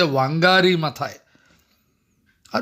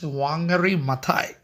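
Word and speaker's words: Wangari Maathai: other than wangari maai her name is pronounced in different way some people say wangari ma are we we say somewhat stylish wangari maai okay wangary maai otherwise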